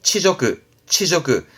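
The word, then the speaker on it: 恥辱: 그래서 이게 치욕입니다. 발음은 치저그.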